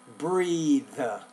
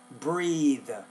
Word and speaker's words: breathe: I think you want to say breathe, breathe. I can breath, fresh. Yeah, you don't want to say breath. Breath is a noun. Breathe is a verb. They're almost spelled the same, but not quite. The verb has an E on the end. Breath has a TH at the end of the word.